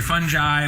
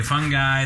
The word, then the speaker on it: fungi: The beauty of this word is we say fungi, we say fungi. There are all different ways.